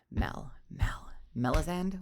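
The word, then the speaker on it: Melazande: And then, we've got the whole name thing on top of that where, like, people get the name wrong because it's got a silent E on the end.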